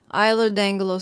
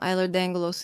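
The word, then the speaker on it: Ehlers-Danlos: Iser dangalos syndrome. Eerod dangalos is spelled e h l e r s hyphen d a n l o s.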